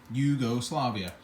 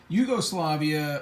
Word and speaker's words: Jugoslavia: another way to write the word Yugoslavia just pronounce the J like a whi Yugoslavia Yugoslavia factory as far as we know and according